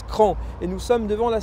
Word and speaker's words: Craon: ne sauraient pas encore ça s'écrit craon mais ça se prononce cran et nous sommes devant